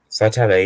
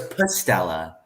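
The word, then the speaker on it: Psytalla: Ben, is the P silent? Cytella, yeah. Holy crap! I thought it was Pustella. I'm not. Yeah, I've embarrassed myself pronouncing scientific names, or not scientific names, just names in general wrong sometimes as well on YouTube. I've been like for the past year, I've been pronouncing it Pustella horrida.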